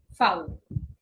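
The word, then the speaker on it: Vau: এরপরে হচ্ছে ভি, কিন্তু ভি কে ডয়েসে কি বলে? ফাউ, এটা একদমই এক্সেপশনাল। এটা আমাদের খুব খুব খুব ইম্পর্টেন্স দিয়ে মনে রাখতে হবে। ভি হচ্ছে গিয়ে ফাউ। এর উচ্চারণ কি এর মতে হয়? এফ এর মতোই হয়, ফ এর মতো উচ্চারণ হয়।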